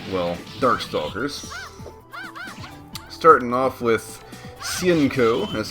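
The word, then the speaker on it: Hsien-Ko: other games besides well dark stalkers off with sienko that's how you say her name i know it's kind of hard to say because a lot of english dubs don't get it right it's like shinko or hasenko it's like if you listen to the different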